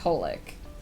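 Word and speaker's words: xxxHolic: Fun fact, XXX Holoc is just pronounced Holic.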